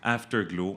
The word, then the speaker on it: Afterglow: Afterglow, ouais. Comme ça s'écrit dans le fond.